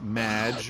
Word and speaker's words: Madge: show thanks amy however you have mispronounced my name it's madge which rhymes with badge uh as in duh